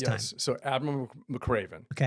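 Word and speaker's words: McRaven: But then what ended up happening um 30 years ago, something happened with with Adam McCraven when I was working with them when he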